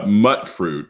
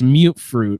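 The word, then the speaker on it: mutfruit: all the time well there's mutt fruit is a common not you its mute fruit because it's like mutated like it's a music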